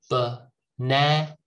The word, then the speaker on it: banana: Next, banana. Start with the schwa, end with the schwa, but in the middle, na.